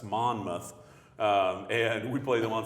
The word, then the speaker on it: Monmouth: Monmouth so if you ever wondered how to pronounce that its Monmouth and we play them on Saturday at 2 p.m.